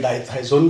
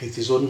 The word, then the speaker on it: Dithizone: एंड डाइथाइजोन भी बोल सकते हैं आप, डिथीजोन भी बोल सकते हैं, आपका मर्जी है.